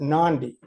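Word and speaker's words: Nadi: We came into the city of Nandi. Uh, it's spelled N- A DI, but they pronounce it Nandi.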